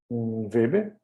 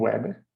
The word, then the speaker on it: weber: Isto é, a indutância ela deve ser um Weber, ou Weber, como você quiser pronunciar, sobre ampere.